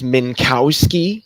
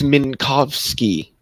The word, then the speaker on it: Minkowski: oh U Min menovsky everybody says minkowski space it's minkovski mov you say it